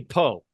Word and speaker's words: Pau: Yeah, Pow. It might be Poe. Some pronounce it Poe. I'm sticking. No. Batman always Pow. Then we'll go with Pow.